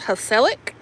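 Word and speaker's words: gezellig: It says pronounced hellic.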